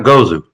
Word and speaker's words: Gozu: And how how do I pronounce the Gozu? Is that how you say it exactly? Yeah. Yeah, Gozu. Yeah, you got it. Gozu, man, and it's got that trippy I love the fuzz.